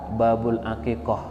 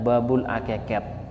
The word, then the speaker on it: Babul Aqiqoh: baru ngaji ya itu di kitab mereka ada Babul aqiqoh dia bacanya Babul aqiqah hakekat itu bahasa Madura tengkar sehingga bacaan-bacaan yang